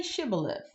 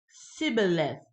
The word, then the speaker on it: shibboleth: 6 no I'm not they would tell him say Sheba live if he was from Ephraim he would say sibilance sibilance because people from even cannot pronounce the word correctly then they would take